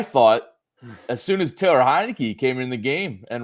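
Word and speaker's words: Heinicke: overtake Ser Servo Servo it's pronounced hinei not Montana hinei oh I forgot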